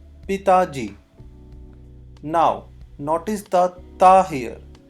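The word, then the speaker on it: पिताजी: So in Hindi, father is called Pitaji.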